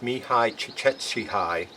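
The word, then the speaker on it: Csikszentmihalyi: a vocation a gentleman by the name of me hi chick Etsy hi instead of going into the length of how to pronounce that and that is how you pronounce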